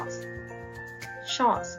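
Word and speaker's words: shorts: จะ พูด ว่า ชอบ ช็อต นัก เรียน อย่า ลืม ออก เต็ม ตัว S นะ คะ เพราะ ว่า กางเกง ขา สั้น มี สอง ขา ใช่ ไหม คะ เรา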